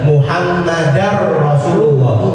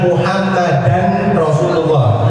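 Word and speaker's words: محمدا رسول الله: Nah ini dibacanya juga sama, idgham bila ghunnah. Muhammadar Rasulullah, bukan Muhammadan Rasulullah. Hati-hati.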